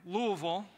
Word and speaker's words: Louisville: Yes, I said it right, Louisville, to Worship God Conference.